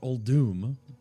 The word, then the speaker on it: Uldum: All right, we're in Uldum. Or Uldum, how it's pronounced.